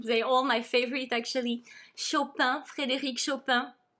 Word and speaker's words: Chopin: all my favorite actually chopin frederick so i pronounce it in a french way because even if he was born in poland in 1811 he moved at the age of 19 to paris and he will spend the